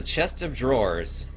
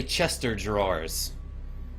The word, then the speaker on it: chest of drawers: left this is a chest of drawers oh gosh I have so many friends in Louisiana who pronounced that phrase this is a Chester drawers like Chester is a word it's not the top